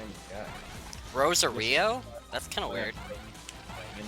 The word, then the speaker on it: Rosario: Pronounced Rosario. No, I discussed it with one of my friends at school. It's apparently pronounced Rosary. Plus, I also watched it both Japanese and English. In the English version, they did call it the Rosary.